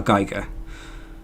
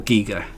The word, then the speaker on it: Giger: Geiger. Or Giger, depending on how you like to pronounce his name.